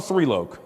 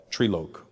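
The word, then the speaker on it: Trilok: How do you spell thrielo? T r i l o k. T r i l o k. Trieloque. But it's pronounced three.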